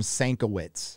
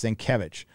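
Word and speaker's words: Sienkiewicz: um bill psych senkovic i used to call him sankowitz i didn't know how to say his last name so it was bill sankowitz for forever but it's cenkevich who's a [ __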